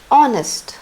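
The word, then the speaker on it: honest: ओ लगा हुआ है एन ऑनेस्ट ऑनेस्ट H silent रहेगा ओ सुनाई देगा ऑनेस्ट ओ ओ की मात्रा ओ तो यहां पे एन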